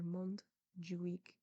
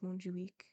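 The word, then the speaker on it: Montjuich: the West and there is a note after Mont ju week it is spelled m o n t J u i c h and it says the castle of monju week which overlooks Barcelona there you go when he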